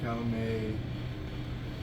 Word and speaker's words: Calumet: Calumet. That T's silent.